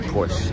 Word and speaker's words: Porsche: horses they're nice and I know it's pronounced Porsche but I say Porsche because I am American not German another Corvette Mustang